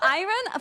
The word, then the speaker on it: iron: incorrect yes but for iron for iron I genuinely can't say it correctly iron iron o cows there's so many creatures here iron iron like I earn money I earn iron iron IR I don't